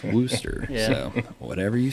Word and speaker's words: Wooster: So is it Worcester or Wooster? It's Worcester. Okay.